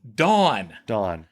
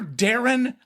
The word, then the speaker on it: Darin: Dawn. Dawn. I'm like, did you not hear Darin? Because I'm like closer to her than I am to you. And Darin. I said, Darin. Dawn. 2 syllables.